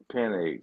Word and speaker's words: Penix: Penix, I was Penix, surprised they Jesus Christ, Penix. Penix. Yeah, okay, that's how you say it.